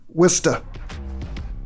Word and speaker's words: Worcester: How do you pronounce that city? Worcester.